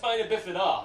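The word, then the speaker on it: spina bifida: W the crutches in the air now it's pronounced spinabifida and the reason I say that cuz I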